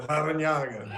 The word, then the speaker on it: Larrañaga: There's a double R, too, right, Coach? So you have an R in there also. Can you roll your R's? Yeah, Larrañaga.